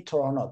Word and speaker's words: Toronto: Center downtown Toronto uh in local people say Toronto they don't pronounce t so that's why I tend to say like Toronto Toronto but Toronto is also correct for free means uh